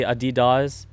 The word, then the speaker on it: adidas: the adidas brand or what do they say in europe but they say adidas yeah it's a different way that europeans adidas adidas went to europe and they're like you're saying it wrong but what was it